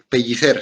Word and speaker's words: Pellicer: Se pronuncia la pellicer.